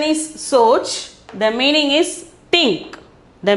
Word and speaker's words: सोच: Pronunciation is soch.